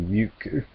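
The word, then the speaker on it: Rikku: Like Riku was originally Ryuku in Japanese.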